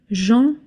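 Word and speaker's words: gentil: Jeanti spelled like this is pronounced je. You don't pronounce the L at the end.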